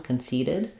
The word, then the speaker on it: conceited: it the adjective um that these will be a flap sound so it's not a t or a d it's just a light lift of the tongue conceited um he's very conceited um she Conceited the